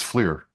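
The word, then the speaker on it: FLIR: Um, I I was wondering if you have a brand of flur camera that you recommend. Yeah, actually it's Fleer. The actual Fleer.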